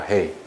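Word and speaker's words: 黑: 그래서 예를 들어 가지고 이게 건물 흑자인데 중국 발음은 헤이입니다. 헤이.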